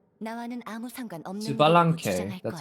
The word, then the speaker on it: Citlali: 난 교활한 스발랑케에게 힘을 도둑맞았을 뿐 나와는 아무 상관없는 Citlali, that's how you pronounce it, at least in Korean.